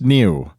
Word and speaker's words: NIU: affordable Neo NIU yes it's pronounced new like an east coast of the United States person would say news you know and now